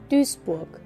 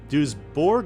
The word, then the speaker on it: Duisburg: I'm gonna keep saying Duisburg. I really gotta remember how to say it right. Wikipedia. I'm gonna get this down once and for all. Duisburg. Duisburg. Duisburg. Duisburg. Duisburg. Okay, I'm gonna say Duisburg.